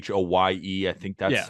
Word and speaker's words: Hoye: Dude, like James Hoy, I think he was game one. What is it? James Hoy? I know it's Hoye. I think that's how you pronounce his last name.